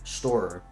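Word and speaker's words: Storror: In case nobody told you, uh, the game is called Storeer Parkour Pro. Uh, just like it's spelled on the shirt. S T O R R O R. Stoer.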